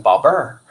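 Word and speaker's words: 宝贝儿: 在北方他们会念成宝贝儿，所以他们有个儿化音，很有趣儿化音。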